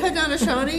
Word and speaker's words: Haudenosaunee: Did I even pronounce it right? Yeah, you did, Haudenosaunee. It was close enough. That is their name in their language. Oh, and really? In various languages, it is pronounced a little differently.